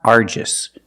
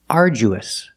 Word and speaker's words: arduous: letter to my friend the pronunciation of this word is not Argus we don't say Argus the pronunciation is arduous arduous and it means very hard arduous the DU makes it just sound like jump and Juice are you who use a long u like food and boot ooh together arju arduous